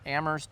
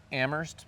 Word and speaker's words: Amherst: Today I'm in Amherst, Massachusetts with my client Tory Chlanda from Better View Landscapes.